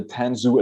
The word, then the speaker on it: Tanzu: rick clark uh pronounced i'll pronounce it right the ten zoo advisor at vmware uh that's correct yeah yeah for me